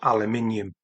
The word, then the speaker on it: aluminium: But notice how it's spelled, please. Al mining eum. That's the correct spelling of aluminium.